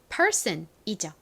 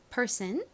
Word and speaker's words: person: 여러 명이 아닌 한 사람을 가리키는 단어이고 발음은 person이죠. 여기서는 son이 든이 아닌 쓴 소리로 쓰였죠. person.